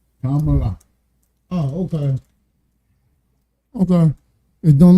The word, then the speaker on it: Kamala: You gotta put the accent in it, buddy. Okay, buddy? Kamala.